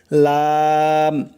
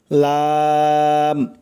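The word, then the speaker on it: لام: জিহ্বার agar কিনারা সামনের উপরের দাঁতের মাড়ির সঙ্গে লাগাইয়া খেয়াল করবেন জিহ্বার আগার কিনারা সামনের উপরের দাঁতের মাড়ির সঙ্গে লাগাইয়া উচ্চারণ হয় লাম লাম স্বাভাবিকভাবে উচ্চারণ হবে লাম তারপরে চলুন নয় নাম্বার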